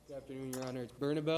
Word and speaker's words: Bernabel: get to the podium tell us the correct pronunciation of your name please bernabelle all right thank you sir you're in Casio